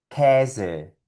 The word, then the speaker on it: Käse: Por lo tanto, estas palabras sonarían Mädchen, Käse, Universität.